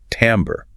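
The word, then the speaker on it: timbre: That's spelled t i m r e but pronounced tambber.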